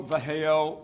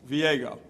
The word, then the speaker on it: Viejo: Viego. Viejo. All right. Close. It's 158 like me trying to pronounce With the Bob's J- last The J name. is pronounced with an H, so it's Viejo.